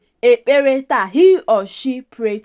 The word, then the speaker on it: ekpere: Pray is kpee ekpere. Then the past tense is kpere ekpere. It's important to pronounce it well. The sound there is pi. That double consonant pi. KP is pronounced as pi. Ekpere.